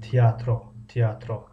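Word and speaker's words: tiyatro: زبان ها تئاتر میشود، اما در زبانی ترکی یک کمی تلفظش فرق میکند. تئاترو اما همون تئاتر است. با زبان انگلیسی تئاتر، در زبان ترکی تئاتر، در زبان روسی تئاتر، در زبان ترکی تئاترو.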